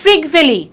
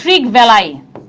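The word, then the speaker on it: Trygve Lie: হ্যাঁ, দেখো প্রথম মহাসচিবকে জাতিসংঘের ট্রিগ ভ্যালি, বা অনেক জায়গায় উচ্চারণটা এরকম হয় ট্রিগ ভ্যালাই, কোনো সমস্যা নাই, একই কথা।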